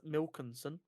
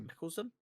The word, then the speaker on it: Mikkelsen: Marvel has reportedly met with Mads Mikkelsen. I think I've mispronounced that. Mickelson.